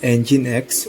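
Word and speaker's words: nginx: While it too can operate as a standard web server, the Ninkx pronounced EngineX web server is better known as a reverse proxy server.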